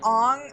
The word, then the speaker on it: Aang: They already knew how to pronounce Aang, and they went That's with the problem. Ong anyway.